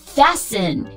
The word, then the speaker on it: fasten: 嗯，首先 STEN 结尾的，比如我们很熟悉的 Listen Fasten T 都是不发音的，不要读成 Listen Fasten 这就不对。